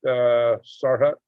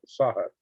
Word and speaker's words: Sahut: Sarhut, I thought I said it right. Sahut, excuse me, there's no R in there.